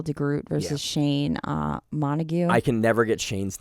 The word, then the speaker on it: Montague: Groot versus Shane uh Montague I can never get Shane's name he's Shane always has the mustache the bleached hair it's Montague just like the uh like um Shakespeare like you know oh